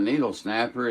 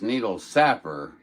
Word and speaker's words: Needle Sapper: I did have someone send me a photograph of his home page, and it's not Needle Snapper, it's Needle Sapper. Sap, like a sap, like he's a sap.